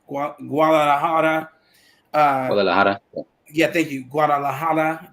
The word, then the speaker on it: Guadalajara: I heard you mention I always mispronounce that name. Guadalajara.